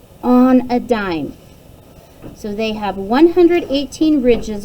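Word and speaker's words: dîme: It's pronounced dime.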